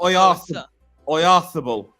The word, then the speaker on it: Oyarzabal: It's Spanish, so it's a th. So Oyarzabal.